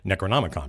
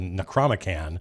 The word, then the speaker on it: Necromican: I wanted to get the Necromican, which took me a long time to just pronounce because my brain, my mouth all want to go Necronomicon, but nope, it was called the Necromican, and the Necromican.